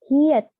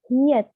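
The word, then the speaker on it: 히읗: Lalu yang terakhir ada hiet, hiet, yaitu biasa sering dibaca H.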